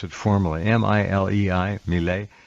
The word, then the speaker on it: Milei: The president of Argentina, Milei, I forget how you pronounce it formally, M-I-L-E-I, Milei.